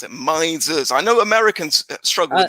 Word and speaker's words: Mises: That's how you pronounce it. Mises.